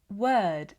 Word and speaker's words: word: This video is going to help you pronounce the words work, word, and world correctly in British pronunciation. These words are not pronounced with an aw sound.